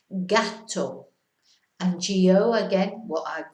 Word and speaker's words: gato: Then we've got the hard G sounds, G-A or G-O, gato, which is a cat, you probably know that, gato.